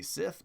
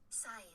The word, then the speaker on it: scythe: in case you're wondering i used to say sith but uh scythe how do you say